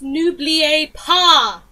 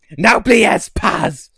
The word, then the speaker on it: N'oubliez pas: It's n'oubliez pas! Naubliers Paz! It's Leviosa, not Leviosa. You uncultured swine!